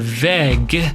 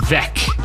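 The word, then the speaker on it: Weg: german where where uh consonants that come at the end of a a word uh they change pronunciation somewhat they they get harder so um instead of veg it's vec and uh that's something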